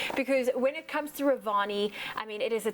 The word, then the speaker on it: Revani: you're going to show us how to make Revani and cardamom milk. Did I pronounce that correctly?